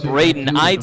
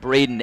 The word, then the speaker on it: Braden: in this first inning this is brayden make that braden edson check out the pronunciation guide here ignore the eye runner